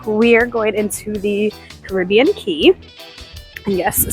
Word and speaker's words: Cay: going into the Caribbean key and yes Cay is pronounced key for this uh who